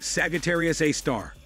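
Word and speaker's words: Sagittarius A*: black hole Discovery called Sagitarius a asterisk pronounced Sagittarius A star our Milky Ways super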